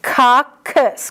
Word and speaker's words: coccus: It's coccus, k for singular, cocci, k-s for plural.